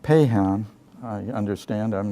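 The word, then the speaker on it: Paixhans: named it's spelling FAI X Haan which is pronounced pay Han I understand I'm not a linguist in French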